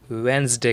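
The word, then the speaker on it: Wednesday: बोलते हैं गलत है इस वर्ड पर डिपेंड जी लेटर साइलेंट रहेगा और इसे हम वेनसडे करेंगे वेनसडे वेंस्डे वेनसडे ए for example exam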